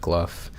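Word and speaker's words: Gough: h I think yeah apparently it's pronounced gluff kind of like like cough um so yeah you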